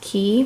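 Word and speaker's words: Quay: Australian friend they spell it like waived it's pronounced key when I first tried them on I did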